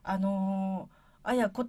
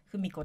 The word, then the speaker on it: 文子: 、はい、あやこと読みます。そうそう、だいたいふみこって呼ばれちゃうんですけ